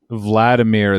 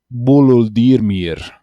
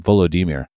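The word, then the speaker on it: Volodymyr: well first of all people keep saying vladimir zelinski it's buludirmir okay and i think that's the better pronunciation volodymir it's a cool name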